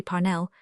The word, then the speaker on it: Parnell: Parnell, she said with a strong accent on the first syllable, is the man of destiny.